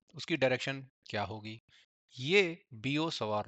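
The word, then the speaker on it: Biot–Savart: बियो सवार लॉ है बायोट सट लॉ नहीं बोलते इसे इसे ब सवार लॉ बोलते हैं क्योंकि यह फ्रेंच लोग है वहां पर टी साइलेंट रहेगा तो यह टी नहीं बोला जाता चलो भाई वापस आते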